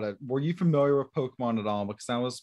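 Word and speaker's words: Pokémon: And, as a Professor Oak, somebody who was supposed to be a Pokemon expert. And that was one thing they were like, it's not Pokemon, it's Pokemon. Oh, yeah.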